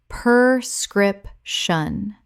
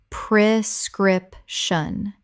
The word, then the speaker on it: prescription: Common mispronunciation. Per-scrip-shun. Correct pronunciation. Pri-scrip-shun. The first syllable is pre, not per.